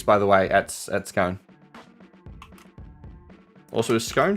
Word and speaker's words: Scone: So it's Scone. Scone is how you pronounce the town.